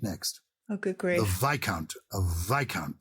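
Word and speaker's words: viscount: oh good grace of vikant ah and how that's spelled v-i-s-c-o-u-n-t it's obviously related to count what was the what would the vis be doing yes that's interesting because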